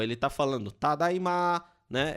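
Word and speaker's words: ただいま: normal dele é apenas tadaima. Só que nós temos esse traço no final para ele dar um pouco de sentimento, né? Indicando que ele está prolongando essa última sílaba. Ele está falando tadaima, né?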